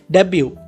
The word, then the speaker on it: debut: Next word है डेब्यू, DEBUT, डेब्यू। यहाँ पर टी साइलेंट है, इसको हम डेब्यू पढ़ते हैं, जिसका मतलब है